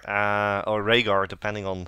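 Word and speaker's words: Rehgar: official pronoun pronunciation guy it's RAR RAR same as same as Raina but Rainer is a y and yes but it's still pronounced the same and we have SK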